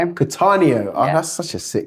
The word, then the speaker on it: Cattaneo: How How do I pronounce your surname? Katanio. Katanio.